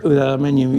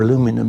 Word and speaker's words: aluminium: aluminium, you're kind of stuck, or aluminum, as you Americans say, you're stuck with the diameter that your supplier will give you.